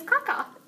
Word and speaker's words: Kaka: And I mean, the way we try to pronounce it is Karyala. Karyala. Karyala. And our last name is Kaka.